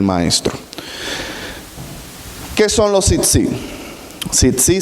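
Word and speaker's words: tzitzit: Tzitzi se escribe T-Z-I-T, 2 veces, tzitzi.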